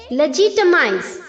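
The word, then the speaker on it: legitimize: लेजिटीमेट ंग next है लेजिटिमाइज यहां पर भी हमें एल ई के आगे जो जी है उसे जे की तरह प्रोनाउंस करना है ओके लेजिटिमाइज लेजिटिमाइज्ड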